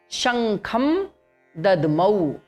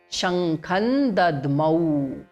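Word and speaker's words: शङ्खं दध्मौ: Okay, next word is Shankham Dadmau. So when we are saying Shankham individually, it is Shankham ending in ma, Shankham. But the moment Dadmau, next word has come, so Shankham plus Dadmau becomes Shankhan Dadmau. There is no ma in between now.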